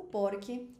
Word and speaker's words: porque: Eu falo porque, hum, é uma palavra jana. A gente fala no espanhol jana, ou seja, eu não preciso falar por porque seria aguda.